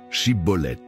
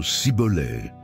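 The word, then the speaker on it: schibboleth: Jefté demandèrent à chacun de prononcer le mot chibolet. Mais les effephraimites, à cause de leur accent, il ne parvenaient pas à le prononcer correctement, disant sibolais. Ce détail linguistique est devenu un signe de jugement.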